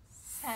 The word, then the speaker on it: scent: Scent. Scent. So is the S or the C silent? What's your opinion? I want to say the C. Just makes sense that the C is silent.